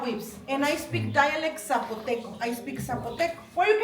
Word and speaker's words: Zapotec: It's pronounced Zapotec or Zapotec? Zapotec.